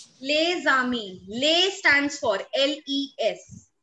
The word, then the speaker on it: Les: If we individually pronounce this word, the pronunciation is Les. Why? Because rule number one of French is that if there are consonants that lie in the end of any word, if there is a